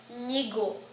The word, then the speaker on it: nyigo: So in Gugiyalanji, it's more closely linked together. Ny, nyigo, or nyayo, or nyulo. And sorry, not nyayo, that's an NG, but nyigo. And nyigo means now or today. So it's NY, nyigo, now or today in Gugiyalanji.